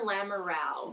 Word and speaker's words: Lamoureux: It Lamoureux or Lamoureux? Lamoureux. I think it's the French Canadian pronunciation is like a moo sound.